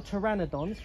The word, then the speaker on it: Pteranodon: flying dinosaurs these are pteranodons amazingly you don't spell that with the t you spell it with a p now pteranodons are some